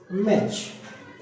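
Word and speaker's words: match: जैसे यहां पर मैंने एक वर्ड लिखा टी के लिए मैच। यहां पर सीएच आया। सीएच के पहले जो टी आता है वो साइलेंट हो जाता है। याद रखना मैच।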